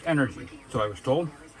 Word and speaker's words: E-NRG: this fuel it's called energy e dot n r g letters all letters pronounced energy so i was told